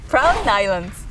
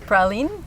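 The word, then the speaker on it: Praslin: the Mission Lodge viewpoint proud Islands it's actually pronounced praline without the S like in French Holly Pauline Pauline allow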